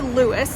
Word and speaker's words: Lewes: talk again um i made it to louis that's actually how it's pronounced and the other town